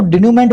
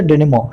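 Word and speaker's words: denouement: भूल जाता हूँ जनरली, और मैं इसको डिन्यूमेंट बोला करता था। आज मैंने इसका करेक्ट प्रोनाउंसिएशन देखा तो वो था डिनिमो, है ना, देखना आप भी, वर्ड बहुत अच्छा है।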